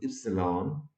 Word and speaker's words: epsilon: if c law and pronounce this is a greek word pronounces epsilon and this quantity is